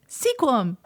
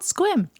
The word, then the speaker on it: Sequim: of squim mhm and we're like oh seum because it's spelled s e qu I am Sequim but it's not how you say it's called squim anyway so lost Mountain